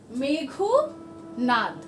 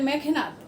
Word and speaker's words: মেঘনাদ: নিয়ে তিনি তৈরি করলেন মেঘনাদ বধ। একসাথে হবে কথাটা, মেঘনাদ, উচ্চারণটা হবে মেঘনাদ। দেখবে কেউ কেউ বলে মেঘনাদ, না মেঘনাদ নয়, উচ্চারণটা হচ্ছে মেঘনাদ।